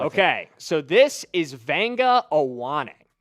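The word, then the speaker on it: Vega Ioane: Give me the pronunciation of this name because I always struggle with it. Okay, so this is Vanga Awanak.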